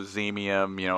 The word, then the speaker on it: Xemium: We like to pronounce X's as Z's. So just, Zotavo, Xemium, I could go down the list.